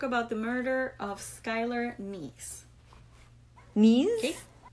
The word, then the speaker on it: Neese: So today we're going to talk about the murder of Skylar Neese. Neese? Okay. Neese. It's Neesse. Oh. So it sounds like, it's pronounced like knees, as in a knee, as your knee, your knees or your knees.